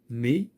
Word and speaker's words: mais: Donc, mais, un S ne se prononce pas.